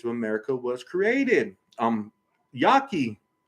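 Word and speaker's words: Yaqui: America was created um Yaki you probably never heard of Yaki it's spelled y-a-q-u-i looked this stuff up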